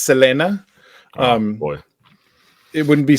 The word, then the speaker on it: Selena: this is Selena or Selena it would be pronounced Selena um boy it wouldn't be Selena because in